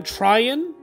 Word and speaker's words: Tryon: Yeah, William Tryon, I believe is his name. That's how you pronounce it.